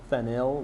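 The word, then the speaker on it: phenyl: ethyl right and phenol be careful I'm going to over pronounce that phenol because we're going to learn that there's also something called fenil with a y l at the end of it because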